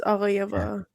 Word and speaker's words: Aghayaeva: I'm gonna guess Aghayaeva. Aghayaeva. Aghayaeva. It's Aghayaeva.